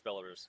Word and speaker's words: Belarus: Belarus? And then there's lots of ableism on the internet too. Also, it's Belarus.